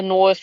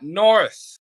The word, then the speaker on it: Norse: Norse mythology, people that believed in the Norse mythology. It's Norse, not North.